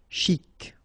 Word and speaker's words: chic: Okay, you pronounce the final C. And then CH together. Sh. Chic.